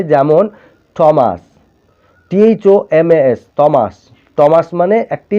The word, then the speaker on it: Thomas: এবারে 4 নম্বর দেখো, কখনো কখনো TH টয়ের মতো উচ্চারিত হয়, THও টয়ের মতো উচ্চারণ হয়। যেমন থমাস, THOMAS, থমাস।